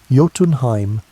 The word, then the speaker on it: Jotunheim: The second root stretched down into Jotunheim, pronounced Yo-tun-heim, land of the giants.